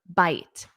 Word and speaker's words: bite: get that pronunciation because we have a long I in the base verb bite it bit it a